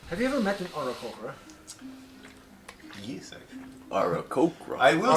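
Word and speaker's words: Aarakocra: Have you ever met an Oracocra? Yes, actually. Arakokra. I will say, It's pronounced Arakokra.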